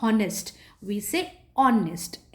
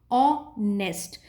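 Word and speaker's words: honest: vowel a वायोन्यूज एट्स वी डोंट से हनेस्टर एच is silent ऑनेस्ट so because it इज़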